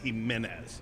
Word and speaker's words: Jimenez: Kevin Jimenez boy unless so he says Jimenez maybe he's just adapted to how he said but the correct pronunciation is a menace well he was very